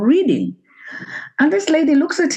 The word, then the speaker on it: Reading: listeners who don't know reading reading in England is spelled reading but it's pronounced reading is is that right